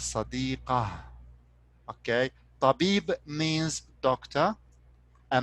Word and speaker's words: صديقة: So this sadiqa, it could be sadiqata or sadiqati or sadiqatu. It's up to the conjugation of this word. Later on, we will be talking about this. Okay. So, but for now, you can pronounce it as sadiqah.